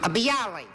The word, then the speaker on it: bialy: it thank you number two what is a bialy is that the way you pronounce it bialy yeah bialy originated in a place called bialystok